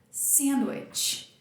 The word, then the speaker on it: sandwich: Então, qual que é a sílaba mais forte dessa palavra? A primeira. Sandwich, sandwich, sandwich.